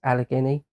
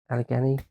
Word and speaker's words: Allegheny: I think it's pronounced Allegheny. Allegheny.